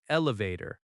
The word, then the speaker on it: elevator: In American English, we say elevator, not lift. Elevator has stress on vator.